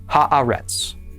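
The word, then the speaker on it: הָאָרֶץ: This is our seventh word, pronounced haaretz.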